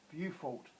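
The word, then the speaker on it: Beaufort: r t scale what is measured on the buffalt scale that was question seven if you're not certain of my pronunciation i've just spelt it for you pause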